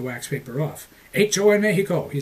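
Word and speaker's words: México: in Mexico, he said. Notice I pronounced the X as an H.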